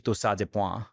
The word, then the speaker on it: torsades de pointes: And what she says, she's like, that's actually torsades et point. Like she says the proper French pronunciation, which is a very specific little quirk in medicine. When you say these eponymous names, you pronounce them by their like origin language.